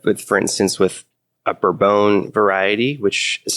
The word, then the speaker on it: Bourbon: true but if with for instance with a burbone variety which is spelled bourbon but pronounced for bone bror bone tastes like brobone no matter where it's grown